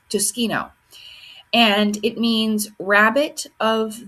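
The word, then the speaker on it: Tsukino: real name is Usagi Tsushkino. Pretty sure that's how you say it, Tsushkino.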